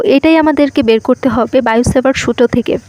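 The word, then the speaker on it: Biot–Savart: আমাদেরকে বের করতে হবে বায়োসেভার্ট সূত্র থেকে তো বিজ্ঞানীর নাম হচ্ছে বায়ো সেভার্ট তো বাংলাতে টি উচ্চারণ করা হয় না তো বায়োসেভার্ট তো বিজ্ঞানী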